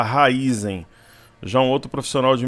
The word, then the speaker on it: Raízen: 4 aqui na tela Alguns falam Raízen raiz em Raízen a gente ouve a pronúncia diversas formas uma pessoa que trabalha na área me falou que o certo é falar Raízen já um outro profissional